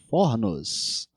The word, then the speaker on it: fornos: Plurais metafônicos. Algumas palavras mudam de o para o a sílaba tônica quando vai pro plural. Então, forno vira fornos.